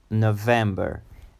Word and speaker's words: November: November. It's a three-syllable word and with the emphasis on the second syllable, them, like in red, them, November. And the last syllable is quicker, November, November, November.